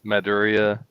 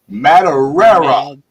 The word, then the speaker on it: Madureira: Later, you know, of course, Campbell and you know, Maduria and who else? I never say his name right. Travis Ray. Madureira.